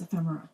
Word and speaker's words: ephemera: It's not ephemera. It's ephemera. Ephemera.